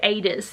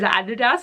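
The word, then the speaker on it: Aidas: Like, obviously it's gonna have something to do with Adis, is how I think you say his name. I always read it as Adidas, and I'm like, that's not right.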